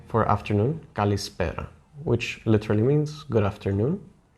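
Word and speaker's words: καλησπέρα: Then you say for afternoon, kalispera, which literally means good afternoon, or good after the noon, let's say.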